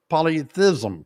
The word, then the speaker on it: polyethism: we call that age polyethism. Now, that's not polytheism. Polytheism means many gods. Notice the different spelling. Polythism is how you say that.